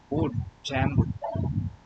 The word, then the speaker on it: Django: They is silent. Django jang bank not bank not bank or Django.